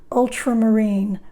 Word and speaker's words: ultramarine: crimson this is ultramarine blue accent on the ultra ultramarine marine is ocean or